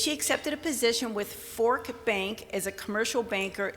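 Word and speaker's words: Forcht: accepted a position with fork bank as a commercial banker just this past april fork is spelled f-o-r-c-h-t but it's pronounced fork case case you've ever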